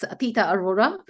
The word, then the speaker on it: Atita Arora: U say it correctly it's it's atita Aurora and uh I have no connection with the Northern Lights just to clarify yeah